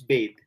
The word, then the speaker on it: bathe: No, bath is we say bath, but when we turn it into verb, it becomes bathe, bathe.